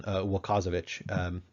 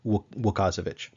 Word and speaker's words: Łukasiewicz: So anyway, but yeah, my approximation of how to pronounce this particular Polish name is Łukasiewicz.